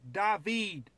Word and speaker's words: David: there a David David it's dahveed man it's all right it's a common name brah come on dahveed